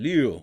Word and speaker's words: Ryu: It's closer to an L than an R. Ha. So it's Hyunjin Liu. But no, I'm going to say Ryu.